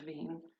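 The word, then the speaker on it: Wien: cities berlin and vienna are in german pronunciation berlin and veen and czech means the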